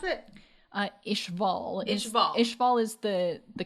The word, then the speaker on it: Ishval: about the two questions one how do you pronounce it uh ishval is ishval is the the country or region